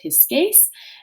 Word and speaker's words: Pisces: So Pisces in Latin would be pronounced pisces, and this means the fish.